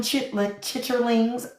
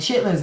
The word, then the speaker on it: chitlins: And chitlins is one of them. If you call it chitterlings, I will respectfully decline, beloved. I'm already full. Because you got to say it like chitlins.